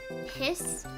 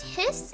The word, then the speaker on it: His: There's like, you know, after this, it's the bundle of hiss. Why is it called the bundle of hiss? And it's pronounced hiss, not like his. People say it hiss.